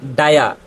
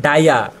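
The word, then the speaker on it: dire: তারপর এখানে আমরা পড়ছি ডায়া ডি আই আর ই দেখেন আমরা জানি একটা ওয়ার্ডের শেষে যদি ই থাকে তাহলে ই এর উচ্চারণটা হয় না আর এইটা ডি আই আর ই মানে ডায়া ডায়া শব্দের অর্থ হচ্ছে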